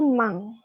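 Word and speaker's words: 万: Jadi kalau nolnya 4 ini itu bilangnya itu mang. Mang. Ya. Nah, jadi kan di sini nolnya 4 mang. Nah, depannya kan angka 1. Jadi ichi mang.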